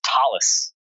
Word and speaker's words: Thales: then I'm not sure if I'm going to pronounce this correctly. Is it Thales, Netherland? It's Thales, I believe, if my accent is right.